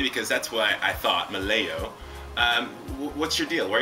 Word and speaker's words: Melillo: You say it Melillo, and you spell it M-E-L-I-L-L-O. Melillo.